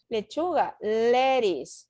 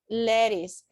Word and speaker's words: lettuce: okay sauce salsa sauce ladies this is tricky because the pronunciation is ladies lettuce priscilla you have to